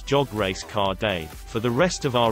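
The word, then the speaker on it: jag älskar dig: love you in Swedish jag al sadiq I remembered how to pronounce it by saying it as jog race car day for the rest of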